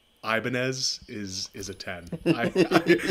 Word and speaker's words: Ibanez: Anything that's not somebody saying Ibanez is a 10. I get a lot of Ibanez because people just try to say it the way it's spelled, so you did very well.